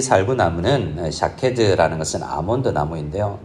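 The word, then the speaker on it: שָׁקֵד: 여기 지켜 그대로 이루려 함이라라는 지켜라는 데 각주가 있는데 성경에 보면 내려가 보면 살구나무라는 말과 지킨다라는 말의 발음이 비슷합니다. 살구나무는 히브리어로 읽으면 샤케드라고 되어 있는데요.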